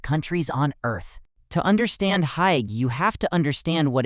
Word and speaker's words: hygge: Hygge, pronounced roughly hygge, is one of the most beloved ideas in Denmark.